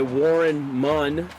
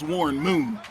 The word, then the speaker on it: Warren Moon: And decent return there by Warren Munn. That U it's a long U there. That's Warren Moon.